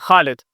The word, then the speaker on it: Khalid: How do you pronounce it? Khalid.